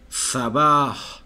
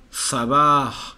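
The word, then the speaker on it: صباح: la siento de veras acá sabah sabah estela s fuerte sabah entonces teníamos mabrouk y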